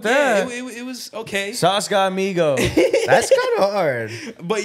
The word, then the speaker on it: Sauce God Migo: Sauce God Migo. Spell that out.